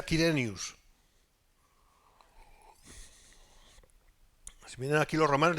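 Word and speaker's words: Quirinius: quiren gobernador de Siria Por qué digo kenio Y no cirenio porque se pronuncia así de hecho se pronuncia kiren Si miran aquí los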